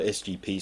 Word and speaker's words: SGP: everything yeah them again siga store or SGP store as I'm told they would prefer it to be pronounced but I can't help